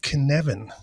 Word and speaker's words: Cynefin: in in time so it's called kinevin if you read the episode title you probably did not expect that to be the way